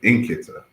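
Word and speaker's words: nkịta: And so he said Nkita.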